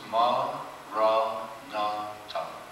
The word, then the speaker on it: Maranatha: And say the word as 4 syllables, ma, ra, na, ta. Diga a palavra em 4 sílabas iguais. Maranatha.